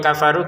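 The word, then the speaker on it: كفروا: Bedanya kalau yang kafaru kita baca dua harakat kalau belum gabung sama hamzahnya ya kafaru nanti diulangi lagi menggabungkan maka jadi lima harakat.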